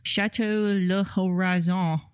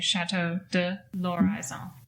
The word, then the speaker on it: Chateau de l'Horizon: you don't have to pronounce the L and the H because it's an L apostrophe. That's right. So you just say Chateau de L'Horizon.